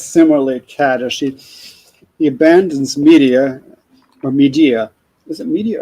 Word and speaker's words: Medea: so jason is similarly kata she he abandons media or media is it media or media oh i uh this is how medea is how i pronounce it even though like that's the name